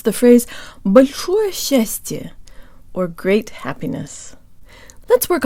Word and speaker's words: счастье: Together, S and ch sound like sh, with the tongue high and forward, and to Western ears it almost sounds like there's a Y sound built in.